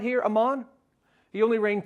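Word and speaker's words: Amon: His son is pronounced Ammon.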